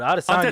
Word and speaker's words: Adesanya: Adesanya. Adesanya. And It's like Giannis's last name. I'm not going to try to say it. you just. Adesanya is a lot easier. Oh God, Adesanya.